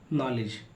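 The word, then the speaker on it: knowledge: कब साइलेंट होता है एन से पहले के आता है तो के को पढ़ा नहीं जाता है जसे के एंड डबल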